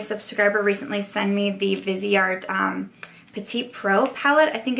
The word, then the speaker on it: Viseart: Okay, so this is from Viseart, I think is actually how you say it.